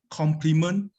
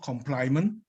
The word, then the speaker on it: complement: this is from yankee the word of the day is pronounced as complement not compliment and general evaluator we